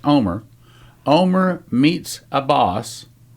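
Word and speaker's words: Olmert: Headline, Omer, O-L-M-E-R-T, again, it's pronounced Omer.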